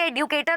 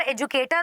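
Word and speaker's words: educator: ट्राई कर रही थी कि एडुकेटर होगा और एजुकेटर होगा। एक्चुअली और असल में both the pronunciations are acceptable है दोनों ही। It hardly depends on the acceptance of British and American English.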